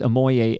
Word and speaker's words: Ammoye: to search for is ammoy. A m o y e. So I thought silent. The e is silent.